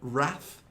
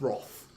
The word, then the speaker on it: wrath: yes hmm so again the traditional British pronunciation of Wrath is Roth but again it makes